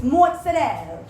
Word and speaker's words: mozzarella: I'm like, mozzarella sticks. Yeah. And he's like, no, you're wrong. It's mozzarella.